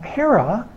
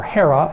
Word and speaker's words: Hera: there in Greek characters has an ADA a row and an alpha Ada as a long e and the H that